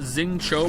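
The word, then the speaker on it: Xingqiu: that's why nice shot zinc Qui is pronounced Zing Cho by the way I don't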